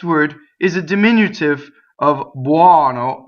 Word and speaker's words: buono: Now, when you say buono, the stress is on the O, and that O is open. But when you say buonino, it is an unstressed O, so it is closed.